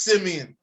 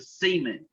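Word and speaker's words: Siemian: It's Simeon. They're missing two only white people pronounce it Simeon. Us brothers pronounce it Seaman.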